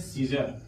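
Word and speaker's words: Caesar: ई ए लिखा है अगर ई के तुरंत बाद ए आता है तो ए क्या होता है ए साइलेंट रहेगा ई के तुरंत बाद यदि ए आता है तो ए साइलेंट होगा यानी कि इसको हम पढ़ते हैं सीजर और सीजर मीस होता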